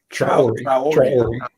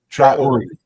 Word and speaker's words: Traore: Tabla had mentioned earlier, as you discussed, Dr. Toure, is that the right pronunciation? Traore. Say it again. Traore.